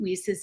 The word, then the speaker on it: WiCyS: WESIS Executive Director. We often go by our acronym WICYS, and it's pronounced WESIS, like We Sisters, and that's exactly what we are.